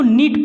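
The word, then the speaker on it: knit: यहाँ पे के बाद यन आया, इसलिए हम उसको किनिट नहीं पढ़ेंगे, किनिट नहीं, इसको यानी ये साइलेंट हो जाता है कि अब इसको नीट पढ़ेंगे।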